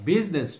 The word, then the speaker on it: business: promote world peace now the word business business two-syllable eye is silent business business means a